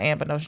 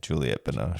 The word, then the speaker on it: Juliette Binoche: That has Johnny Depp and not Anne Benoist, Juliet Binoche. However you say her name. Anne Benoche? Yeah, Juliette Binoche.